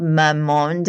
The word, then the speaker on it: Mamonde: Astadaily is an astaxanthin supplement it's a daily supplement it's an all-in-one formula and um a company called Mamonde and I'm hoping I'm pronouncing it correct it's m a m o n d e.